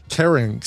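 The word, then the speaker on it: carnyx: the syrinx, the phalanx, the larynx, and the carynx.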